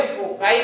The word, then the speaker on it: foci: तो इनको हमें फोकाई बोलना है, क्या बोलना है, फोकाई।